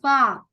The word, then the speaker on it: fork: It's a fork. fork. Oh, take note, okay? Take note that is letter F. F. All right. Fork. Because when you Fork. say pork, okay, pork, it means pig meat.